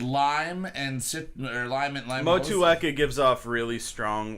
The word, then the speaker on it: Motueka: Motueka is the pronunciation.